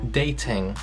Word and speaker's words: dating: O primeiro verbo é dating, ou então na pronúncia britânica, dating, porque eles forçam mais o T, dating.